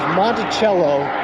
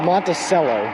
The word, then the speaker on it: Monticello: They pronounced, there was a town in, I can't remember if it was Indiana or Illinois, but the town of Monticello that they pronounced Monticello, like an S, which is just not right.